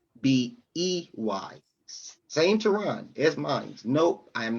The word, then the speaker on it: Tehran: It's pronounced Tehran, but it's yes, the name is Turkish.